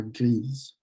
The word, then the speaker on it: grise: The E on gris causes you to pronounce the S. So la grise, gray.